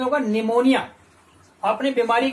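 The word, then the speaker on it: pneumonia: यहां पर देखेंगे आप पी जो है, पी साइलेंट लेटर है, यहां पर इसका प्रोनाउंसेशन नहीं होता है, ठीक है, निमोनिया फेफड़े संबंधित बीमारी होती है।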